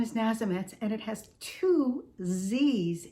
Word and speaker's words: Nazemetz: thank you yes so my last name is nazimetz and it has two z's in it and when people see this they can't pronounce it they can't spell it they freak